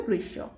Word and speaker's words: গ্রীষ্ম: গৃশ্য পড়লে বুঝা যাবে গ্রীষ্ম কিন্তু উচ্চারণটা হবে গ্রীশব তারপরে চৌচির চৌকার চৌ